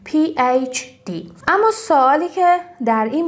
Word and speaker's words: PhD: و دکترا هم که همون PhD که میگیم مثلا طرف PhD داره، یا PhD که تلفظ درست H رو H باید بگیم PhD.